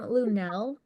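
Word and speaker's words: Lunell: Does she pronounce her name Lunel? Yes, Okay. Lunel apologizes to Pete Davidson for touching him on live TV.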